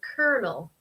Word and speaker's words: colonel: So colonel.